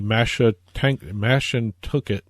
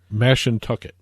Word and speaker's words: Mashantucket: change by the time this airs, that the Mashantucket Pequot Tribal Nation, which runs Foxwoods, Mohegan Tribe runs Mohegan Sun in Uncasville. Foxwoods has not yet agreed to it. How did you pronounce that name again? Mashantucket.